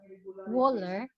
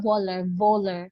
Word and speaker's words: Wöhler: So in 1828, a German chemist named Friedrich Wöhler was able to, dili siya Wöhler, kay ilang W kay V ang pagka-pronounce, was able to synthesize urea from ammonia.